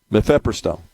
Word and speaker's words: mifepristone: Mifepristone. Yeah. That's the way it's spelled.